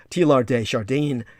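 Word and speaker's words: Teilhard de Chardin: and tlr d shardin you actually pronounced his name t lar uh correctly in the french you would silence the d t lar de chardin was talking about a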